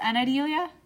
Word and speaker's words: Anadelia: Anadelia Salinas? Anadelia? Yes. I think that's how we say that.